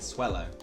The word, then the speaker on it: Swellow: right now take a look bad habits and pronounced it wrong it is swell it makes them Taillow evolves into swellow then we have chicken reset we have fun